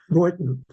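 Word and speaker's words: Beuthen: It's just been recorded in Hungarian spelling, but it's the sounding is exactly the same as the German B-E-U-T-H-E-N, which is pronounced in German Boyton.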